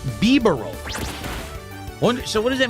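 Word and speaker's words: Bibarel: It's pronounced beaver roll.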